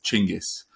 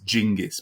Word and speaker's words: Chinggis: But yeah, the original in all original source languages, he is Chinggis, or sometimes Genghis.